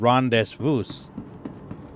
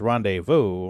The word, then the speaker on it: rendezvous: So for years, I said rendezvous or vouse. And someone corrected me one day and said, that's rendezvous. And I was like, really? And I was like, that's spelled pretty fucked up. And they're like, yeah, well, that's French for you.